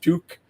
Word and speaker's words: TUQ: It's spelled TUQ, kind of pronounced Tuk, not to be confused with a popular Canadian ski hat.